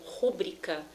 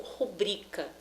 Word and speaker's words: rubrica: Exemplo, a pronúncia ruim ou rúbrica são pronúncias inadequadas. O correto seria pronunciar ruim ou rubrica.